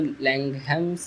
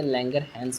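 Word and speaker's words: Langerhans: उसको समझा दें आपको, इसको लैंगहैम्स नहीं बोलते, लैंगरहैंस बोलते हैं।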